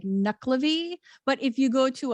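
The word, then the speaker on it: Nuckelavee: It's like the emphasis on the syllable is different. It's like NECKELAVEE. It's like different. It's just the accent is on a different place.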